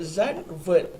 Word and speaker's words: Zandvoort: Dia punya pronounce dia Zandvoort.